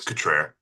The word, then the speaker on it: Catrett: Catrett. I'm here, ma'am. Did I pronounce that correctly, your last name, sir? Everyone gets it wrong. It's Catrett.